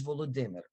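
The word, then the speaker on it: Volodymyr: for example you know volodimber the name of the Ukrainian president his first name is volodimer the Russian variant of that name is the Vladimir I've heard them I've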